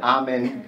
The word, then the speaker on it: Amen: from ancient kimid uh amen am n uh which we now say at the end of most of our prayers if we're Christians we kind of pronounce it differently uh but ammen uh anciently meant the